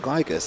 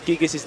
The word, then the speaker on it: Gigas: the moves from Gigas, I don't know why people keep saying Gigas, it's Gigas. It's actually Gigas who says it in the game. I don't care, they're saying it wrong. Yeah. So, yeah, exactly. Read what it says. There's one G, not two.